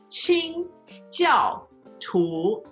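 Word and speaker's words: 清教徒: First tone, fourth tone, second tone. So let's do it slowly. 清教徒. 清教徒.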